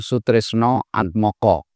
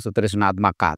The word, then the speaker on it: Sutrisna Atmaka: Jadi meskipun ditulis Sutrisna Atmaka, tetapi dalam bahasa Jawa diucapkan Sutrisno Atmoko. Itu kurang lebih cara mengucapkannya ya. Kalau Sunda memang Sutrisno Atmaka, tapi saya dari Jawa Tengah, dari Klaten, Solo, ucapannya Sutrisno Atmoko.